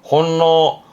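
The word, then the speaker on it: 翻弄: 발음은 혼노.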